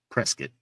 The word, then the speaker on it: Prescott: Like now it's called Prescuit even though it's spelled Prescott.